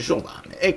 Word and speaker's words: Giovane: anche presentato al pubblico (si pronuncia Giovane, quindi va bene).